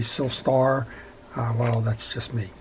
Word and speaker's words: Silstar: sister way so and i apologize if i'm pronouncing it silster and it should be silstar uh well that's just